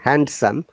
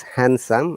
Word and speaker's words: handsome: though there are d the d is silent in both cases we don't say handsome it is handsome and it is sandwich